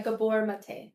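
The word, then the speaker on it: Gabor Maté: So you say his name Gabber Mate. Yeah, Gabbor Mate.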